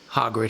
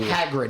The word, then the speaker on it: Hagrid: Nick Frost as Hogrid himself. He He looks so Hagrid, not Hogrid, because you know, we're going to get the our our pronunciation snobs will come out.